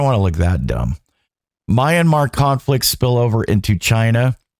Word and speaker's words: Myanmar: with Guana the subia is that am I pronouncing that right a sabotage off Ireland's Coast uh my myanmar's Mayanmar Myanmar sorry the Myanmar I'm gonna cut that